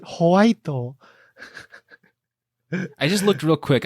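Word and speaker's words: ホワイト: You have to pronounce it Whiteo.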